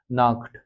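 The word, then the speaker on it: Nacht: इसका उच्चारण याद रखिएगा, आ के साथ से और हा आया है, और आपको मैंने पहले ही बताया था, अगर से और हा आता है, यानी सी और एच जिस इंग्लिश में कहते हैं, से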